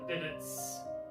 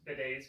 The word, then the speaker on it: bidets: that the toilets and the sinks and the bitters in the ladies room yes i went there